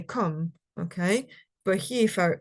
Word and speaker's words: come: would have heard that it's not come but it's come okay because oh yeah they they pronounced the e at the at the end okay so therefore sale